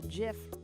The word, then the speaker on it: GIF: pronounced GIF, but Is that right?